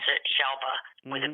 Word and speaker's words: Shelva: And I like to tell the story about Shelva's name because a lot of people pronounce it Shelva with a B, and it is Shelva.